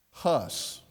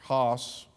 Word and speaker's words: Hus: by the name of John hus or hos uh depending on how you pronounce it uh way back as